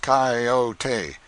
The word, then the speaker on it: coyote: If I remember rightly, this latter was the regular coyote, pronounced coyote, of the farther deserts.